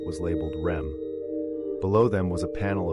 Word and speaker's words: REM: ADM and REM, pronounced Adam and Rem.